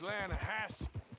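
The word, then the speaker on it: Lannahechee: You mean the Lanahatchee River? No. The Lanahatchee. It runs right near here. Yeah, but it's pronounced Lanahassee.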